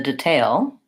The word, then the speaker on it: detail: If I'm using it as a noun, then I'm talking about the details, the detail. Then I would use the schwa for the first syllable because it's unstressed, detail.